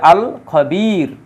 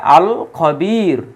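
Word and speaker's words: الخبير: আছে এই শব্দের পূর্বে আল খবির কিন্তু এই জায়গায় দেখুন এই খ এটা হচ্ছে কমারিয়াত এজন্য আলিফ লামের উচ্চারণ হয়েছে হ্যাঁ আল খবির যাই হোক তাহলে আমরা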